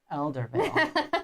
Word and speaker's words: Eldervale: So, Everdale? Just so you know, Eldervale.